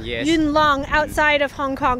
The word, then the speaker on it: Yuen Long: This is a city, I'm probably going to mispronounce it, Yuen Long, Yes. Yuen Long, outside of Hong Kong.